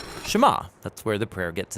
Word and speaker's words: Shema: is hear or listen which in hebrew is pronounced Shema that's where the prayer